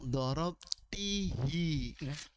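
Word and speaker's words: ضَرَبْتِهِ: Saat bertemu dengan hu, kita tidak membacanya sebagai dorabtihu. Kami tidak membacanya dorabtihu. Kami tidak membacanya sebagai dorabtihu, tetapi kami membacanya sebagai dorabtihi.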